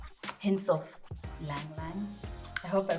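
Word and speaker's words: ylang-ylang: It's got like hints of lang lang. I hope I pronounce. I've never known how to pronounce that word, but it's spelled YLANG. I assume the Y is silent, so lang lang or yang yang.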